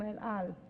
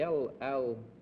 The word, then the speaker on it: El Al: Number two, the El Al, is that the way you pronounce it? Yes, El Al yes.